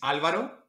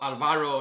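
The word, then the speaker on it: Álvaro: My name properly is Alvaro, with the accent in the first A. Not Alvaro, not Alvaro, not the guy with the glasses or the strange accent.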